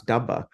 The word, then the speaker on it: dabba: went up, and like I got corrected on how you pronounce Dabba, which is, Uh, I kept saying Dubba.